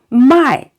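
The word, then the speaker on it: 卖: tone okay going down be careful you know a lot of times you know a lot of we say students pronounce it uh in the different tone which is another meaning so my for to sell and if you say my that means to buy so be very very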